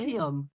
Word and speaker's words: NXIVM: I just realized that I did put the pronunciation. See how you say it? Nexium.